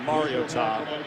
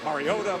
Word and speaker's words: Mariota: Thus the pronunciation by the way it's been said Mariota. Mariotta mom called the athletic department about a week ago. She said do me this favor. It's Mario and then Tom. Put it all together.